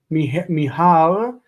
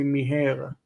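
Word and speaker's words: מיהר: Mihar, he hurried. Notice that some of these have a in that syllable. In modern Hebrew, we standardize them basically, and we say miher. Miher, mihar, doesn't matter.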